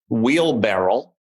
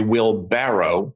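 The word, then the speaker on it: wheelbarrow: that reminds me of the famous wheel barrel which of course is a will barrow b-a-r-r-o-w and that i'm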